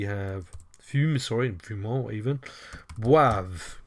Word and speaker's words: boivent: Boive, because you don't pronounce the ENT.